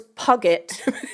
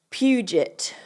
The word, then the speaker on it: Puget: Oh, so Goobs just said, what I said was Puget. So University English of sounding. Puget is actually pronounced Puget.